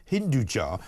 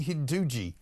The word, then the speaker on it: Hinduja: Gopi Hinduji. That's possibly the worst pronunciation of that name I've ever heard.